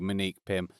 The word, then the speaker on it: Monique: No O in that, it's just M-Nique Pym, from Reliqa.